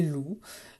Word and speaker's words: loup: Donc le mot de la tortue, facile, et loup, eh bien, une syllabe, loup, je fais chanter. Par contre, j'observe qu'il y a la lettre P qui est muette.